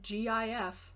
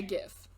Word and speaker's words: GIF: gif as do i i say gif i don't care if it's supposed to be jeff it's bad right jiff is peanut butter yes is it supposed to be jiff though yeah i don't